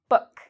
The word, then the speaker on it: book: It has a short O sound, book.